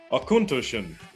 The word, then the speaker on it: Auchentoshan: knowing something i learned ten seconds ago so akuntushen in the city since 1823.